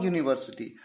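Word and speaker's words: university: यहां पर यूनिवर्सिटी जो है य से शुरू है य। यूनिवर्सिटी य से और य एक व्यंजन का साउंड है।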